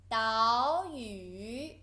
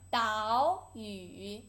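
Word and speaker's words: 岛屿: And then island 岛屿 there's two third tone you should pronounce the first one into second tone 岛屿 good.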